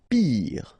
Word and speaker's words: pire: Pire, final E not pronounced, so R at the end, pire.